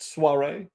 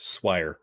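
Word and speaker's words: soirée: you at the next Suare I believe it's pronounced swi you're quite the perplexing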